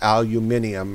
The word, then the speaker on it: aluminium: to the large hills where aluminum is, or aluminium, as I've heard some people pronounce it.